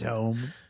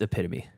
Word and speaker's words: epitome: and storytelling it's short epome what what let him read let him read wait it's not not how you pronounce it it's epitome oh EP oh god